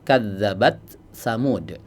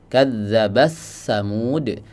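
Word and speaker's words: كذبت ثمود: Contohnya pada lafaz kadzabat tsamud. Ya, sebagian qura membacanya dengan idgham. Kadzabasamud. Tapi dalam riwayat Hafz ya yang dibaca adalah dengan cara izhar ya. Kadzabat tsamud tidak diidgam ya.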